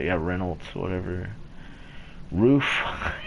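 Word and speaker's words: RUF: have Reynolds or whatever roof it's actually roof are you f not rough a lot of people called it that but I don't know it's what I've heard is its roof saline she'll be slick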